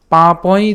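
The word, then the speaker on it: পাপং: নাকে উচ্চারিত হবে, তাহলে উচ্চারণটা হবে পা পয়, পা পয়।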